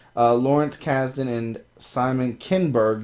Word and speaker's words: Kinberg: Lawrence casden and Simon kinberg you've been saying Kingsburg for like who are shaping Star